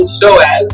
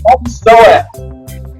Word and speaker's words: psoas: For those of you who are unfamiliar with what the psoas is, there's a great website called Google, and you can Google psoas, spelled with a P.